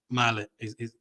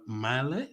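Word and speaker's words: Mæhle: Now, they have a tough fixture against France there, but you cannot ignore Male. That's how you pronounce his name. Joachim Male.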